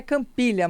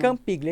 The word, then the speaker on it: Campiglia: A pronúncia seria Campiglia, mas depois Campiglia. não tem como ninguém seguir, né? Porque Uhum. escreve diferente do que fala, né? Então, italiano. é Campiglia, italiano.